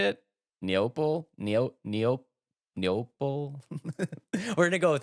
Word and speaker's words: Neople: it neople Neo neop neople we're going to go with that it's like people with an N yeah it's people with